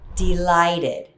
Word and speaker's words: delighted: Similarly, you can also use the word delighted. I'm delighted to have you here. I could not be more delighted. Notice the ending ed is pronounced as id.